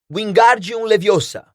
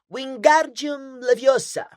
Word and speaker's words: Wingardium Leviosa: como Paz de Moinho você está dizendo feitiço errado Harry ouviu hermion corrigir aborrecida é Wi Gum leviosa o Gar bem pronunciado e longo diz você que é